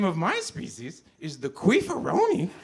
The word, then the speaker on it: Queefaroni: So the name of my species is the Queefaroni, spelled like rice-a-roni, capital Q, queef, hyphen, capital A, hyphen, capital R-roni.